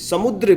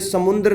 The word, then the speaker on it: समुद्र: अम्बुदी समुद्र, बिल्कुल बिल्कुल, ये समुद्र नहीं बोला जाएगा स्टूडेंट्स, ये होगा समुद्र। अगर आप इसका उच्चारण कुछ इस प्रकार से करते हैं समुद्र, आप यहाँ पर आधा न लगाते हैं तो ये शब्द शुद्धिकरण की दृष्टि से बिल्कुल अशुद्ध शब्द है, आपको यहाँ पर 0